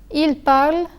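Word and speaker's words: parlent: Je parle, tu parles, il parle, elle parle, nous parlons, vous parlez, il parle, elle parle.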